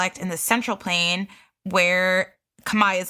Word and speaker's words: Khmer: So you can be like a language pro now and be like, it's Khmer. Yeah, I did not know how to pronounce it until probably this podcast, if I'm being completely honest with you guys.